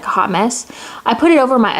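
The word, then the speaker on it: Haute Mess: mess or I hoped mess is spelled like Haute but it's supposed to be like hot mess I put it over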